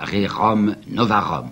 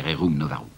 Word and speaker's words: Rerum Novarum: la fameuse encyclique que je prononcerai comme vous prononcer à ce moment-là rerum novarum si vous l'aimez rerum novarum 106,10 qu'elle passe aujourd'hui pour une déclaration extraordinaire